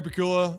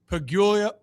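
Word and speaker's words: Pegula: So Brandon Bean and uh and believe it was Terry Pula, the owner. Pigula I why can't I pronounce this pronounc unique New York owner of the Bills.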